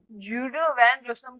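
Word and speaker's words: Guido van Rossum: तो ये जूडो वैन रोसम है भाई, सॉरी भाई, रोसम है।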